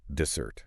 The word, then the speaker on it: dessert: And the stress here is On the end. Dessert.